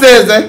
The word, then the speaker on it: SZA: Is that how you pronounce it? SZA.